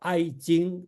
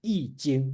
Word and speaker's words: Yi Jing: And the one thing I'd like to mention is you call I Jing, or some people, it's proper pronunciation should be Yi Jing, right?